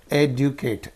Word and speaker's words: educate: And here's educate. Again 8 word. So third syllable. 1, 2, 3. Third. Educate. You cannot say educate. No. Educate. Educate.